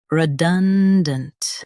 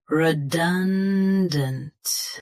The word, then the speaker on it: redundant: Redundant. Both US and UK have the same pronunciation of this word. Stress done. Keep dint tight and quick. Redundant. Redundant. Stress done. Keep dint tight and quick.